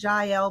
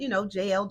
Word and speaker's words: Jael: some pronounce it Jael, but JL, Jael.